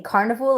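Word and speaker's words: Karnivool: Carnival is spelled K A R N I V O O L. Like carnival but carnival. Carnival.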